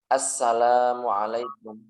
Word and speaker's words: assalamualaikum: Kadang orang itu salam nggak teliti sehingga bacanya itu nggak lengkap. Baca kayak gini. Assalamualaikum, assalamualaikum, assalamualaikum. Itu nggak boleh, nggak sah. Atau assalamualaikum atau assalamualaikum. Kan kurang mimnya kan.